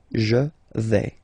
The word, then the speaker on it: je vais: Remember, final S not pronounced. Je vais.